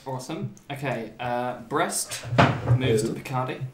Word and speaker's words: Picardy: Okay, Brest moves to Picardy. I'm pronouncing it the French way, it's Picardy.